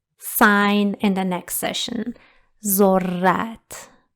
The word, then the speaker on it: ذرت: ذرت. But just pay attention that we pronounce it stronger than other letters. When we see this sign over a letter, it is pronounced stronger. ذرت.